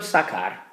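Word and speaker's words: sacar: I've created for myself I have the verb sakar pronounced I have a hard C Sound in there why do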